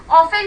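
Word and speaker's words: often: ऑफन कहा जाता है, यहाँ पे टी मोस्टली साइलेंट होता है, ऑफन ही रीड किया जाता है इसे।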